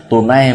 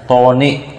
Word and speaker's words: tunai: Tunai bacaan, jangan bacanya toni.